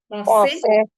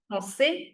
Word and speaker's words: Français: We are not pronouncing the I. Are we? Are we giving enough emphasis to I as much we're giving to A? No, right? No. We're giving more emphasis to A over here.